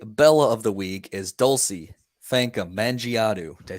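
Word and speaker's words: Dulcy Fankam Mendjiadeu: So my Bella of the week is Dulcie Fanka Mangiadu.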